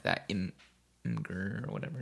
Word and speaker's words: Imgur: I thought it was like a oh my god thing, like a Oh no, Imgur is like a image hosting website. Imager, like that.